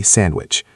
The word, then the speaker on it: sandwich: Think of sandwich. We almost never pronounce the D. We say sandwich or handbag.